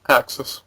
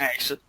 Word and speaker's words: AKSYS: It's AKSYS. You're right. Axis. Oh, That's how okay. it's pronounced. Axis.